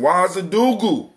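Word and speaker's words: Ouagadougou: All right, somebody, we got, we got somebody calling in from Wazadugu.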